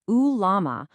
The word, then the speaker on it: ulama: The ulama, pronounced ulama, are the recognized community of Islamic scholars.